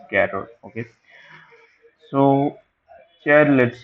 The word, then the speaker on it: char: v i l see care c h a r care you can pronounce it as chair also some people pronounce it chair so I I pronounce it as carot okay so here let's